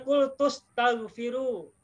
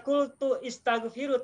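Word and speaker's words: قلت استغفروا: Ya, di surat Nuh ini bacanya kultus taghfiru. Tidak dibaca kultu istaghfiru, tapi kultus taghfiru.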